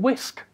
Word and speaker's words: wsk: have got command-line tools the open Wisc one is called wsk because vowels will short supply when they wrote this out I've got no idea why we pronounce it whisk but we couldn't even